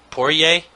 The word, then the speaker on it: Poirier: Poirier? Did I say it right? Yeah, Jouban and Poirier.